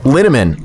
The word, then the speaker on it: Linneman: So last name is Linneman, rhymes with cinnamon.